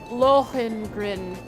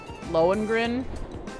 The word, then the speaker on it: Lohengrin: You must be referring to Lohengrin Castle. Is that how you pronounce it?